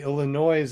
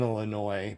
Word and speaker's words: Illinois: Illinois. Why does Illinois have a S at the end if you're not supposed to pronounce it? You know? I know, and when you hear people say Illinois, it just makes your skin crawl.